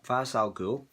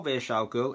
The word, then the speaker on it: Ra's al Ghul: That is exactly what did happen in the story arc of Tower of Babel, where Ra's al Ghul, or Ra's al Ghul, it depends how people want to pronounce it, steals the plans, and with this